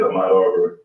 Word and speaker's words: Ahmaud Arbery: I want you to tell us what's happening with this, and correct me if I'm mispronouncing the brother's name, Ahmaud Arbery? That's it, Ahmaud Arbery.